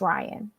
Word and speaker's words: Ryan: His name is Ryan. I know he wants to be called Rain or some Ryan other or such something. fuckery, but if everybody is having a problem pronouncing it, give up.